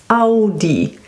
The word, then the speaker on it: Audi: It's A and U, A and U. And this is pronounced Au, Audi. So we say Au.